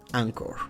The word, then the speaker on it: Anchor: h oeurs se escribe anchor ancor se dice en inglés y es una plataforma